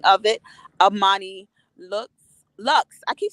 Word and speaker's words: Luxxe: said it wrong Amani looks wax Lounge right not looks looks right looks like luxury but like Lux with two x's because you gotta so